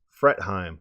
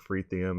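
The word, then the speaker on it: Fretheim: and responding was Terence fret hime I think I'm finally saying that right I always say I'm fret hime I usually say something like free theam and everyone's like well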